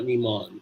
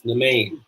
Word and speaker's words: Nemain: be Nimon, and it's not Nimon. It's Nemain. But I could be wrong. I'll look it up again. I'm pretty sure it's Nemain.